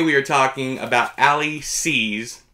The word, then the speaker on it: Seay: But today we are talking about Ali C's, named C, at the C, you know, S-E-A. The Y is silent.